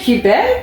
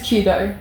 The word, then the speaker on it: Qudo: Qubed? No, just Qudo. Qudo, sorry. Qudo. It's like change the Q to a C. It's the same thing, but it's just with a Q.